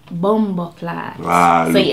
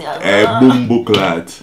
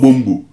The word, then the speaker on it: bumboclaat: It's bumboclaat. You have to go down in your chest. Bumboclaat. Bumboclaat. Bumboclaat. Yeah. It's not bumbu.